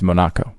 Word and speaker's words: Monaco: But Monaco? It's Monaco. That's how you actually pronounce it.